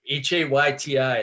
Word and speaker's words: Hayti: Like town names that, phonetically it's Hayti. It looks like Haiti, but it's really Haiti.